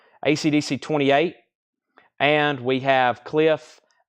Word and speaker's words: KLIF: Cliff is pronounced Cliff.